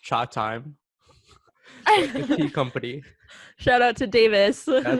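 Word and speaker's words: Chatime: are so boring davis replied back saying it's pronounced cha time company shout out to davis davis uh so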